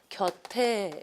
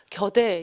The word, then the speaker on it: 곁에: 우리 당신 곁에 있고 싶어요 라고 했을 때 이거는 바로 받침을 연음시켜줘서 곁에 이렇게 가죠. 발음해봐도 알고 이걸 대표문으로 해가지고 겨대 이렇게 발음하는 사람 전혀 없어요.